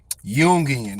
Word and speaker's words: Jungian: let's see how this is pronounced here yian yian see yungan there you go let me get him to